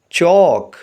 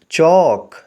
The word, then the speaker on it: chalk: Word کے spelling ہیں CHALK۔ اس میں ایل سائلنٹ ہے اور اس کو پڑھیں گے چوک، ایل کی ساؤنڈ نہیں آئے گی، چوک۔ اگلے لفظ کے اسپیلنگ